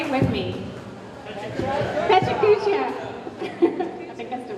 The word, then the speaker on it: Pecha: So the Japanese, it's always consonant vowel, always. So it's Pecha, Kucha.